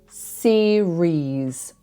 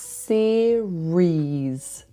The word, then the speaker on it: series: But a TV series, it's 2 syllables and it's pronounced series, series. So the second syllable is like rees.